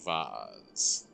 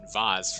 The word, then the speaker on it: vase: up hang on wiary vase um there's some tendency in American English to use the pronunciation vase for more expensive and or elegant items and vase for more everyday ones um yes so it